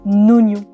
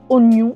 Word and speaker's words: oignon: Pourquoi est-ce que le i est là ? Alors, à quoi sert ce i inutile ? Et ben c'était à l'époque pour bien rappeler que le GN se prononçait de manière mouillée et donc c'est-à-dire devenait mieux. Maintenant c'est bien acquis, on a plus besoin de lui. D'ailleurs, il y a une réforme de l'orthographe en 1990 qui autorise maintenant à écrire oignon sans un i.